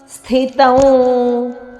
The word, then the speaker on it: ಸ್ಥಿತಂ: ಸಂಯುಕ್ತಾಕ್ಷರ ಇದು ಉತ್ಕ್ರಾಮಂತಂ ಸ್ಥಿತಂ ಸ್ಥ ಇಲ್ಲಿ ಥ ಮಹಾಪ್ರಾಣ ತ ದ ನಂತರ ಬಂದ ಅನುಸ್ವಾರ ಅನುನಾಸಿಕ ವದ ಉಚ್ಚಾರಣೆ ಬೇಕು ಸ್ಥಿತಂ ವಾಪಿ ವಾಪಿ ವದೀರ್ಘಪಿರಸ್ವ ಮುಂದೆ